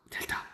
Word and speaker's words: 델타: 이건 뭐 어떻게 읽냐면 델타라고 읽어. 델타.